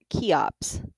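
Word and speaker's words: Cheops: Senaphu was succeeded by his son Kufu, known to the Greeks as Chops, pronounced Kops, and he built the biggest pyramid of them all.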